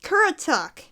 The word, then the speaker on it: Currituck: curry tuck what the how do you pronounce this what the what is with these names parently it's pronounced Currituck alright hopefully they will take